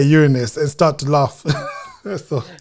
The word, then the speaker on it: Uranus: And that's why I pronounced it Uranus. That's his correct pronunciation, because I grew up saying Uranus. So I made a conscious, no, let's just show them, demonstrate at least educated. It's called Uranus.